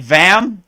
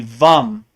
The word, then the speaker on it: Vam: is a sacral chakra it looks like vam but it's really vom vom and then